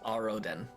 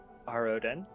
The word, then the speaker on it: Aroden: Aridin? Aridin? I don't remember how to pronounce it. Checks physical notes. It's Aroden. Arodin.